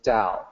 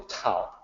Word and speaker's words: Tao: the word down and you will hear me say it with addie sound always that's the way it sounds in Mandarin is the way that I have always said that it and in fact it's the correct way to say in English even though the English word t AO spelled with a tee so many people would just say you know towel I believe in